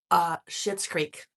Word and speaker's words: Schitt's Creek: Schitt's Creek. I didn't swear. That's the name of it. It's spelled Schitts.